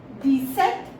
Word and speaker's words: dix-sept: P is silent here, so we pronounce it like set.